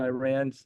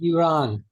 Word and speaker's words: Iran: couple of thoughts on Iran just to start the discussion it's actually Iran is correct pronunciation in Florida it's Iran they don't deserve he's a s he's a s they can't speak proper English anyway here what I